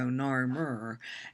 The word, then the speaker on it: Narmer: This is hieroglyphs, which are kind of hard to see, but there's a chisel that represents the first syllable, nar, and then the catfish, which represents Mur, so Narmer.